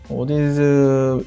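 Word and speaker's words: Audeze: 좀 처음에는 좀 재미가 없을 수도 있지만 익숙해지면 그래서 오디즈 이거는 발음을 오디즈? AUDEZ인데 오디즈 헤드폰을 좋아합니다.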